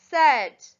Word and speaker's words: said: The E is silent and the sounds like an Number 3, said. S-A-I-D. The A-I is making the short sound there.